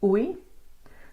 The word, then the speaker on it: oei: Okay, oei. So this is O, E, and I. It's like the sound of a O in book plus a E.